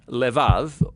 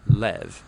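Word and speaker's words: לב: in this prayer heart which in hebrew is sometimes pronounced lev or more often in a shorter form lev now different cultures throughout history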